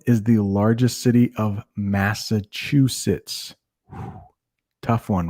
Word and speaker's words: Massachusetts: can say that right mass uh chew sits you chew your food you sit in the chair massachusetts it's it's not that